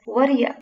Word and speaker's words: what do you: Notice that what do you is pronounced as Whaddaya, which is a very good example of connected speech.